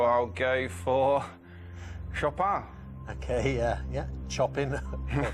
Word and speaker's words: Chopin: and I used to call him chopping I used to get the name wrong so I'll go for shopper okay yeah yeah chopping chopping to you show Pat